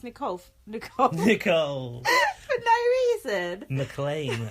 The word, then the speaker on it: McLean: McLean, apparently, not McLean. Mean McLean. Mean McLean. But mean doesn't rhyme with McLean.